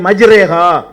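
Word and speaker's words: مجراها: இந்த மாதிரியான உச்சரிப்பு வந்து அரபியில் வராது. இப்போ குரானில் எடுத்துக்கிட்டிங்கன்னா பிஸ்மில்லாஹி மஜ்ரேஹா, மஜ்ரேஹா முர்சாகான்னு இருக்கும்.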